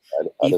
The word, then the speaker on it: Addis Ababa: Your work has been in Addis Ababa. Am I Yep. saying it right? Addis Ababa.